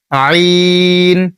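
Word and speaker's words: عين: জয়া বলবেন না তারপরে আইন গলা চাপ দিয়ে আইন এভাবে বলবেন এটাও চার সেকেন্ড বা তিন সেকেন্ড টানবেন আইন ওই যে উপরে যে হা পড়েছিলেন ওই হা আর এই আইন এক জায়গা থেকে উচ্চারণ করবেন।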